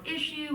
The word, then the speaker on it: Issuu: In the meantime, it is online and available to all right now, and you can find that at the website called Issue, which is spelled ISSUU.